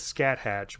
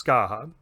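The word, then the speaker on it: Scathach: danan and skaha now that's a little bit confusing because it looks like it says scat hatch but it's skaha this is straight out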